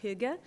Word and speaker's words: hygge: I think it's pronounced hygge, which...